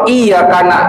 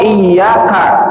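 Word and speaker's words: إِيَّاكَ: Perhatiin ya, kalau iyaka tapi nggak dibaca tasdidnya, iyanya nggak ditegesin pakai tasdid, itu hukumnya bisa murtad. Karena iyaka artinya hanya kepadamu, tapi iyaka tanpa tasdid artinya sinar matahari.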